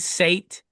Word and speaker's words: Set: This was a new discovery, but Horus and is it the SET Sate? They Set. Yeah. pronounce it Set.